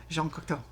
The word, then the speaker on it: Jean Cocteau: You have to say it like that, Jean Cocteau.